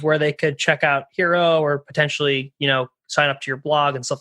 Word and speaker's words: HXRO: they could check out hero or potentially you know sign up to your blog and stuff like that yeah you can you can uh hero h it's hxro we pronounce it hero dot io um we're